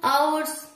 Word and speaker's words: hours: 2 ঘন্টা পর, after 2 hours, তাই তো, আফটার 2 hours। এখানে এইচটা কিন্তু সাইলেন্ট।